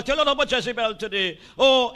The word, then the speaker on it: Jezebel: Jezebel, and I will tell you a lot about Jezebel today. Oh, it is no accident that hell rhymes with Jezebel.